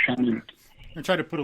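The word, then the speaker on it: Chanute: And it's pronounced Chah-noot.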